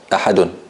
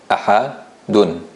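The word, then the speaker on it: أحد: Ahadun. This is how it is pronounced. It's not written this way, but it's pronounced this way.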